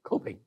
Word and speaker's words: Kopin: Do I pronounce it correctly? Kopin, yeah.